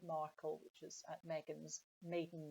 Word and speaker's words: Markle: Sparkle rhyming with Markle, which was Meghan's maiden name before she married Prince Harry.